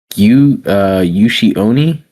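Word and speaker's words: Ushi-oni: He's tied closely to it's pronounced Yushi Oni.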